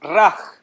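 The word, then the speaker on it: רע: Es raj. Se escribe R-A-H. La J no existe en el hebreo. Es la hey, H. R-A-H.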